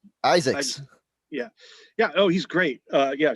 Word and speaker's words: Izaakse: I'm gonna mispronounce his name, Sean Izaakse. Isaacs.